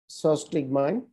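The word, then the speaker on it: physostigmine: একটা হচ্ছে পিলোকার্পিন, নিওস্টেমিন, তারপর হচ্ছে ফিসোসোটিগমিন, এটা সস্টিগমিন বলে আসলে, সস্টিগমাইন, যদিও বানানটা হচ্ছে ফিসোসোটিগমিন হিসেবে মনে রাখতে পারে, সস্টিগমাইন।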